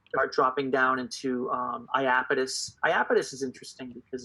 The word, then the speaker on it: Iapetus: to Dan that are dropping down into Lapidus Iapetus is interesting because it's it's about two different